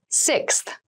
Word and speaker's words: sixth: fifth floor don't you sixth sixth sixth so sixth refers to the number six of something this is a really good word to practice some pronunciation slow down that sixth that middle part there the sixth book